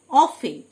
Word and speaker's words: often: অফেন, OFTEN, অফেন, মানে প্রায়, টি silent.